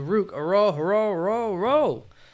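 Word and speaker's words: Ruke Orhorhoro: They're going to go to Rook Aro. That's how it is pronounced.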